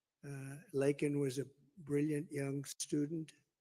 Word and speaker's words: Laken: lakan Riley you know Laken very well now and after months of prodding him Biden couldn't pronounce her name he said he said Lincoln Lincoln Riley and Lincoln Riley was